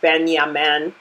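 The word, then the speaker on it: בנימין: And Benjamin's name is pronounced Benyamin.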